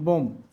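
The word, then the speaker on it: bomb: English ওয়ার্ডের শেষে এমবি এর পরে কোন ভাউয়েল না থাকলে বি এর উচ্চারণ হয় না। যেমন বম।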